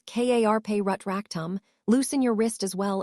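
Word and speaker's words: Carpe Retractum: "Remember, it is pronounced as Karpe Rutractum.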